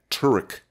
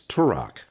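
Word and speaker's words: Turok: see what I mean this man just said Turk it's turak rhymes with Co or spanel ponytail oh no that's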